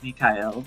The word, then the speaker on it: Mikhail: Yeah, she wields a Um, Mikhail sword, or Michael sword. Dude, I can't. When the fucking Dizzy guide came out and they pronounced it Mikhail, I was like, well, shit, I've been doing it wrong.